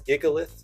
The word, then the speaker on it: Gigalith: The next one here is basically the golem for generation five, that's Gigalith. That's how I pronounce it.